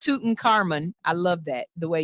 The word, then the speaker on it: Tutankhamun: Yes, it's King Tutankhamun, and yes, it's pronounced Tutankhamun.